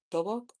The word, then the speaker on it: dobok: Dobok?